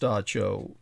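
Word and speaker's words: dab tsog: the entity the god of the cho the dacho d a b space tsog but pronounced dacho the one known in the barbarous tongue as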